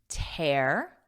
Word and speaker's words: tear: Listen to that pronunciation here. Tear, air, tear, repeat, tear.